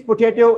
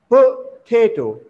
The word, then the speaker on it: potato: Oxford Advanced Learner Dictionary, you will come to know that the stress falls on T. So you will pronounce this word as this potato. So it means that its second syllable is stress. Mean the stress falls on the second syllable, potato, not potato or